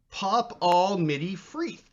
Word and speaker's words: Popball Midi Freeth: Popball Midi Freeth comments, in response to your pronunciation question, it's pronounced Pop-all Midi Freeth.